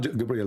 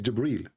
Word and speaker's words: Jibril: here he arrived gabriel it's not gabriel by the way it's jibril even muhammad he got